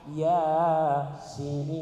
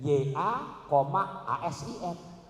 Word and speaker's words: Yasin: Kalau ngajinya benar bacanya Yasin, yang benar tuh. Karena nih orang megang surat laten, terjemahan hurufnya ada 5, YA,ASIN. Saya dengar dia baca di makam babaknya ya asin.